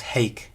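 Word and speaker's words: hīc: It has that same clitic ke, and in Plautine times it was probably still pronounced as heik with a diphthong.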